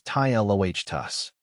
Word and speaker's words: Ptilotus: Totus is pronounced as tloht tus.